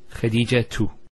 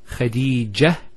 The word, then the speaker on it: Khadija: And thirdly, if you actually pronounce the last letter with the harakah, so for example, say one say Khadija tu. Notice Khadija tu. We pronounce the ta. If we stop at the ta, Khadija, it's a ha.